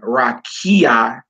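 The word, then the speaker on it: רקיע: Therefore, ruach is stressed on ru, and rakia is stressed on ki.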